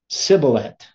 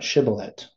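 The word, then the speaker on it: shibboleth: sh sent so they're going to say like the samek sound siblet right not shiblet so they say siblet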